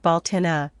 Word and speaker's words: Beltane: or of the sun Irish people pronounce belain like baltina which I suspect comes